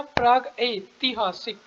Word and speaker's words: प्रागैतिहासिक: ये क्या है प्रग, प्रग ऐतिहासिक। प्रग ऐतिहासिक होता है कि प्राग ऐतिहासिक होता है, सबको पता है प्राग ऐतिहासिक होता है।